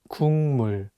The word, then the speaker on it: 국물: But it's paired with the nasal sound 미음, so it changes the pronunciation from a G sound to an NG sound, and you need to read it as 국물.